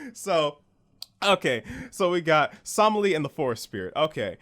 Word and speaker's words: Somali: It's Somali.